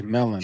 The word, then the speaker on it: Melin: So shout out to Melon.